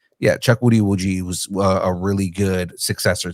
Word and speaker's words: Chukwudi Iwuji: Chukwudi Iwuji. Chuck. You're getting there. Woody. Chuck Woody Iwuji.